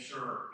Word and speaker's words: Sher: introduce you to Dave Sure. The way he said to pronounce his name, raise your hand. Says you're sure. Are you really sure? So Dave Sher is his name.